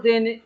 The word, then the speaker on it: the: वाले शब्द पर जोर देने की आवश्यकता हो, ठीक है, क्या करने की आवश्यकता हो, जोर देने की आवश्यकता हो, ठीक है, तो द का उच्चारण क्या होता है, दी होता है।